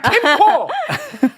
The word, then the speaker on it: 캠코: 정확하게 말씀하셨고 그래서 이 대박이 전체의 부채 금액 캠코가 아니라 캠코 발음 정확하게 캠.